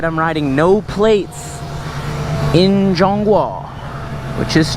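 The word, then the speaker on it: 中华: I'm riding no plates in Jong Wa, which is how you say China in Chinese.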